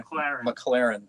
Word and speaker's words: McLaurin: Is that John McLaurin back there? What's up, brother? He's masked. He's masked. Prefers the pronunciation McLaren.